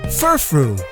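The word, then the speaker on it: Furfrou: Furfru, like frou-frou and fur.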